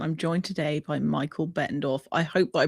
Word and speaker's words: Bettendorf: Well, that's that's perfect. It's it's very phonetic and you'd be surprised how many people stumble over it.